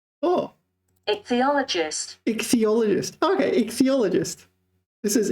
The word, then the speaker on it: ichthyologist: Ichthyologist. Oh. Ichthyologist.